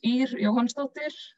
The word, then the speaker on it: Ýr Jóhannsdóttir: My name is Ýr Jóhannsdóttir, is how you pronounce it in Icelandic.